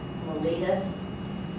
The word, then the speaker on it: mellitus: Diabetes is one of the oldest known diseases, and its official name is called diabetes mellitus.